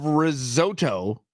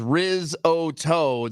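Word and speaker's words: risotto: hey check this out us pronun ification of rizoto is rizoto the UK pronunciation Rizo like Gordon ramsy what do they know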